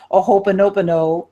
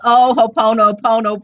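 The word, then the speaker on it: ho'oponopono: so I'm inclined to do my aopo prayer yes did I pronounce that right h oh gosh hopo yes no you didn't I it's ohono Pono prayer oh I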